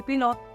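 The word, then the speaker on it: pilote: पिलॉट। पिलॉट। In French पायलट will be पिलॉट। पिलॉट। Trivia. Next it has same spelling, there is no change in the spelling.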